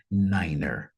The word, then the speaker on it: niner: foi os números né o número 4ro e o número nove eles ganham ali uma pronúncia diferenciada para tentar evitar aqui uma possível ambiguidade né com o quatro que vai ser f o número nove que vai ser niner então gente isso aqui